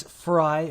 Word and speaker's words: Frei: It is Frei phonetically because it's half of my last name, which is Freiheit. Viva Frei. Freiheit. Okay. Yep. Freiheit, which means freedom, verbatim in German.